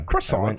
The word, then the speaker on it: croissant: Maybe they're like grocery store quaso. I'm always going to say it wrong, by the way. She she says quaso specifically for the bit of Yeah. Croissant.